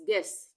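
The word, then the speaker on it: guess: है ये silent rule silent rule में यहां पे यू का उच्चारण नहीं होगा यानी वो साइलेंट रहेगा जैसे जी यू E double S गेस यहां पर हम य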